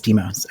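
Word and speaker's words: Deimos: Um I have heard it as Deemos. Deeos. Okay. Mhm. It is Deemos according to my ancient Greek professor.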